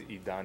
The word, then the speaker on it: Idan: name is Idan.